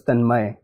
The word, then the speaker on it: Tanmai: chose I over y so the reason they chose is that it represented its pronunciation more accurately in Hindi my name can be spelled clearly it's then my so my mom said that if I put a y it'll seem like it's then may whereas my name was tanmay so to represent that pronunciation she chose a i instead tell me when did